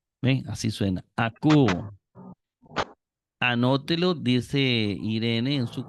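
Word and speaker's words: ἀκούω: el nuevo testamento dice pronúncialo recordando que omicron yilon suena u Entonces esta omicron y suena a cu ven así suena a cu anótelo dice Irene en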